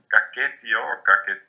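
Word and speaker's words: Caquetío: family of indigenous languages, Arawak and Kaketio is how that is pronounced.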